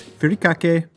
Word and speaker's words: furikake: The first of which is furikake. Yes, that is actually how you pronounce it, you children.